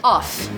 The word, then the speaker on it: off: Com 2 Fs, off. Opposite de on. On, off. Ok.